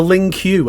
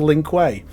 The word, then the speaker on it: Lin Kuei: He also gave us great things like the Ling Q as a pronunciation for Lin Kuei.